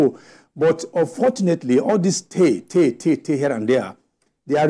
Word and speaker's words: Ter: So they have village chiefs, the village head they call Te. Te is spelled T-E-R.